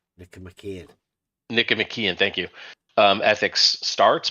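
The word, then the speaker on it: Nicomachean: I can't ever say it right Nic mckian Nick mckian thank you um ethics starts but but emian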